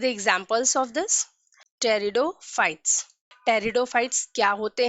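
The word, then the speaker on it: pteridophytes: जब भी किसी स्पेलिंग में P के बाद N, S और T आता है उस कंडीशन में लेटर P साइलेंट होता है।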